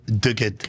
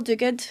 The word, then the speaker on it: Duguid: On today's Successor Excuses podcast, we have Dug.